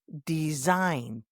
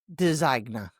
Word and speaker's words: design: Next word, design, D-E-S-I-G-N, not designa or designa. That G-N makes a long I sound.